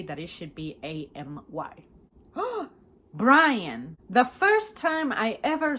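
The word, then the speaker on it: Bryan: It's interesting that it's pronounced Brian just because the Y is there.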